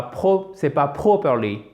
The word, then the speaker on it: properly: Properly. Accent tonique sur la première syllabe. Et c'est un A long. Le O, c'est pas properly. Properly. Non, c'est properly. C'est presque comme un A.